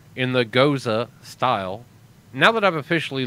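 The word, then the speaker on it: Gose: the funniest part about it being called a Gaza is the fact that it is literally spelled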